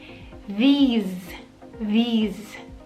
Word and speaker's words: these: Fíjense que en el singular es como una pronunciación mucho más corta. This. This. Y cuando hablamos de plural, fíjense que la pronunciación tiene una I mucho más larga y la S se pronuncia como Z, como un zumbido.